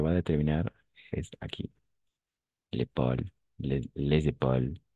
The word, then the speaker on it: épaule: L'épaule. L'épaule, pas l'épaulé, l'épaulé, non. L'épaule. E à la fin, on ne prononce jamais.